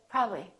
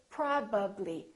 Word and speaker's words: probably: don't take any shortcuts don't say probably probably say probably fully move your lips and fully pronounce each sound and I don't expect